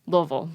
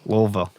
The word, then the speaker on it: Louisville: from louisville right yes how's it how's it pronounced properly louisville louisville yep it doesn't matter i always that's one